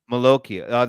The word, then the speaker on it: Malocchio: Is it Malaccio or Malocchio? Malocchio, the Malocchio.